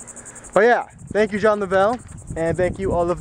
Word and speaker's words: Lovell: I called him John Lovell because, I mean, that's how it's spelled. That's how I thought his name was pronounced, but apparently it's Lovell, and I really never knew that until the other day.